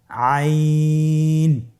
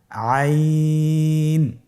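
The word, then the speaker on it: عين: আইন হরফটি উচ্চারণের সময় অবশ্যই তিন আলিফ টেনে পড়তে হবে। এখন আইন হরফটি বারিক হরফ। পাতলা করে পড়তে হবে। আপনার আমার সাথে বলুন আইন। আবার বলুন আইন আইন আর হরফটি কন্ঠনালীর মধ্যখান থেকে উচ্চারিত হয়।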